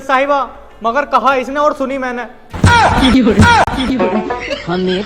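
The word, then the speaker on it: tsunami: जी जज साहिबा मगर कहा इसने और सुनी मैंने। हमें तो लूट लिया मिलके बोलने का मौका ही ना दिया। कल कल वालों ने बच्चों सुनामी का टी साइलेंट है।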